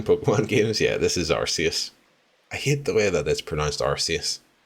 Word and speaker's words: Arceus: Yeah, this is Arceus. I hate the way that it's pronounced Arceus.